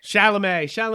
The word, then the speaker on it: Chalamet: ] what timothy chalamet chalamet that's the american way to pronounce it technically but to make